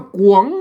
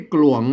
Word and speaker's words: ก๋วง: ได้ นะ ครับ อ่า เปิ้น ก็ อ่าน ว่า กวง นะ ครับ มา ไม่ ใช่ กลวง นะ ครับ หลวง มัน